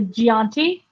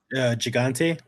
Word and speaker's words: Gigante: that's when we get the Gianti. Did I pronounce that right? Gigante. Gigante. Yeah.